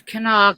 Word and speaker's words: Kanawha: hell was you when I was trying to pronounce it? I Yes, was Nikki. coming, I was coming. Yeah, it's Kanawha County.